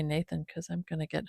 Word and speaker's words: Natan: It's spelled N A T A N. Natan, but I think I'll just say Nathan because I'm going to get hung up on that.